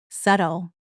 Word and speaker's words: subtle: Word nine, subtle. And here's a tricky one. The b is silent.